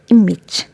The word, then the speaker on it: image: it like h but image is not has this sound each it has x sound here okay so letter a has e sound here so how to pronounce it image image for example an